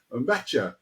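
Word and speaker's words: Nmecha: But I'd also want to just talk a little bit about, and I think the pronunciation, I checked it out after the previous one, Mecha, apparently.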